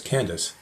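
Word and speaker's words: Candace: all the treasury of the khandak which means Queen of the Ethiopians and is often pronounced as Candice this man had gone to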